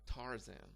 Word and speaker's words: Tarzan: especially a name like Tarzan in Polish it is also pronounced as r z not like Z okay but um like